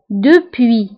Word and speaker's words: depuis: depuis depuis كتعني منذ depuis depuis منذ فهنا ايضا depuis نكتبها بس في اخر الكلمه ولكن لا ننطقها depuis منذ déjà déjà